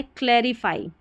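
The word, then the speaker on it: clarify: फिर यहां पर देखिए, यह है क्लेरिफाई। ठीक है? लास्ट में एफ वाई है। इसको फी नहीं पढ़ना। यहां पर इसको फाई पढ़ना है।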